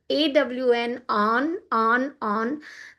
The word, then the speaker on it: on: If you see this on, it is ON, but it is written as AWN, on, to rhyme with dawn.